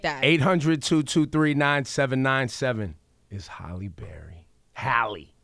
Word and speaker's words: Halle: Halle. Thank you. At least say her name right.